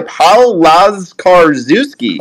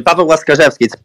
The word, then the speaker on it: Pavel Laskarczewski: Going to pass it to my guy, Paul Laskarczewski. Yes. Did I pronounce that right? That's almost properly. Pavel Laskarczewski.